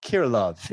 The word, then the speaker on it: Kirilov: we get lost for an hour um kiro kirilov is your last name if i pronounce that properly did i did i get